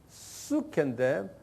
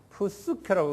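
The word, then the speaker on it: ψυχή: 그 다음에 헬라 말로는 수케인데 푸스케라고 그냥 편의상 발음하세요.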